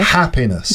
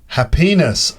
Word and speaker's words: happiness: So happiness, how many syllables? Happiness. 3. Which one's the strongest? The first syllable. Okay. Happiness. Good. And what happens if you stress the second syllable? Happiness.